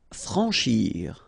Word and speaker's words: franchir: Franchir.